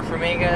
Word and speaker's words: Farmiga: Vera Farmiga, is that how you pronounce her name?